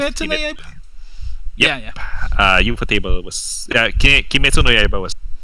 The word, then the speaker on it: ufotable: I would consider Ufotable.